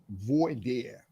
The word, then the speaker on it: voir dire: How do you pronounce that word? Voir dire.